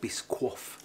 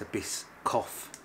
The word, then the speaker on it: Biscoff: on a previous video because i said bisque and the reason i said be squath and not biscoff is because coffee some parts of the world would pronounce it a coffee so i went for the old bisque but someone didn't like that and told me so in the comments so it's abyss cough it's a bit big